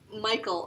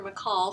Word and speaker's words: Michal: There's one time where David is married to, remember he married the princess, Michal or Michal, some people say her name.